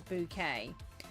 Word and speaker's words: Bucket: Um, so if anybody has ever heard of Hyin Bouquet, but her name is actually spelled bucket, but she pronounced it as bouquet.